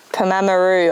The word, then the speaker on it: Pamamaroo: Pamamaroo, I think it's pronounced.